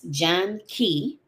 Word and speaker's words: Janki: So, let me make sure I get I'm pronouncing her name correctly. It's John Key.